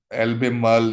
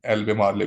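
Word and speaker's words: Albemarle: लिखा हुआ है उन्होंने, एल्बेम एल्बेमल इसकी करेक्ट प्रोनाउंसिएशन है, और इनकरेक्ट प्रोनाउंसिएशन में हम एल्बेमार्ले भी से पढ़ सकते हैं जी।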